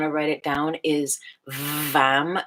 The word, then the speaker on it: Vam: The second chakra, the sound, if you want to write it down, is Vam, V as in Victor, A-M as in Mary.